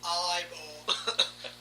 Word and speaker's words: Ivor: Or it's pronounced Ebor. No, it's pronounced Ivor.